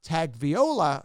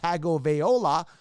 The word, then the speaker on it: Tagovailoa: Tua Tagovailoa, Tagovailoa, as I say, that's how it looks and should be pronounced. Tagovailoa, right?